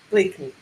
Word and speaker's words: Blakeney: And let me bring in our new guest from the Wayward team here, Katherine Blakeney. Is that how you say it, Katherine? Yeah, just Blakeney. Blakeney.